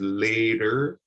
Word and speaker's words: later: has a double t so you'll hear that the t sound sounds like a d in both of them this is later and this is ladder